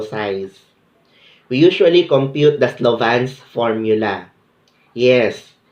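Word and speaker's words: Slovin: compute the sample size we usually compute the Slavens formula yes it's pronounced ah Slovan we have work and done the Cochran's formula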